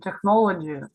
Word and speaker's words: technology: Это ground breaking technology. Perfect. Молодец. Tech. Только, да, там нет х звука.